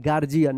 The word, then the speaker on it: guardian: यहाँ पे डी का जो है ना ज उच्चारण हो रहा है, गार्जियन। यहाँ पे यू जो है ना साइलेंट है, गार्जियन।